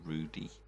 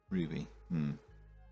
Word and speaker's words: Ruby: I've heard some people pronounce this as Rudy, and it's definitely a B, so it's Ruby.